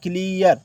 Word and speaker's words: clear: यहाँ देखो EA का उच्चारण ईया हो रहा है। क्या हो रहा है? ईया। जैसे कैसे? तो CLEAR, इसमें ईया हो रहा है, क्लियर, क्लियर, तो ईयर हो रहा है कि नहीं हो रहा है?